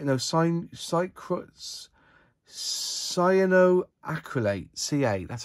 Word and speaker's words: cyanoacrylate: is their super glue is it psychroacrylate is that how you say no sin cycles cyanoacrylate ca that's how you